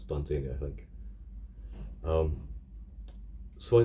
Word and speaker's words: Dunsany: any of those I never know how to pronounce it it's uh I used to say duns on eBay I think it's actually done Genie I I double checked and yeah it's done daily I think um so I decided to focus